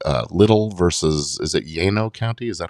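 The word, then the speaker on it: Llano: We've in Texas we've lost the whole we don't we don't pronounce the Spanish double l That's right.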